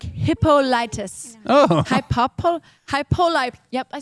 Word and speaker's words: Hippolytus: punishing mortals like Hippolytus.